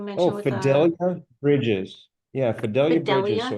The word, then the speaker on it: Fidelia Bridges: Yeah, Fidelia Bridges. So, it's spelled Fi D.